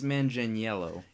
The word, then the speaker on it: Manganiello: Next on the list is Joe, really hard to pronounce Italian last name. I think it's Manganiello.